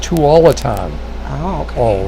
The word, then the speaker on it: Tualatin: It's pronounced Tualatin.